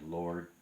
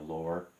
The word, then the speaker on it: Lord: I was explaining in an earlier video, the word Lord starts off with an L, it ends with a D that you don't even have to really pronounce hard, and it still sounds good, like Lord, you know, Lord. You can almost leave out the D and just end it nicely and softly.